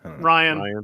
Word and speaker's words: Rian: To annoy Poet, you just have to talk about how much you love Rian Johnson or Ryan. How do you say his name? Ryan. It's just spelled stupid.